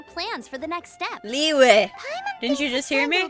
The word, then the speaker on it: Liyue: Liyue! Didn't you just hear me? Leave Mondstadt and keep looking through the 7 nations until we find clues about her brother. It's pronounced Liyue.